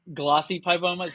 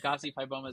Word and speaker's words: gossypibomas: Yeah, I've always called them glossypibomas, but there's no L, so I guess gossypibomas is always what I guess is what you're supposed to call them, but so there's so many different terms for it.